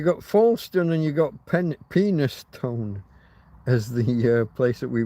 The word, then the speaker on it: Penistone: There's a place, so we pronounce it Penistone, but if you look it up online, you